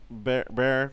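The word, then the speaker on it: Bexar: Antonio, that Behar County. Bear. Bear County. Bear, Yeah, and 'cause then it- Travis it's is.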